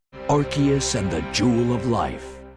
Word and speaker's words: Arceus: below arceus's stomach and yes i did just pronounce it that way because it's correct arceus and the jewel of